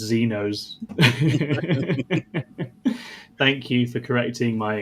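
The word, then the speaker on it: Xenos: Sam Dunn Naz is in says it's pronounced Zenos.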